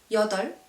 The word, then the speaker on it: 여덟: Same for this one, you only pronounce the l. So 여덟. Same. So you don't pronounce the s sound, but it's l.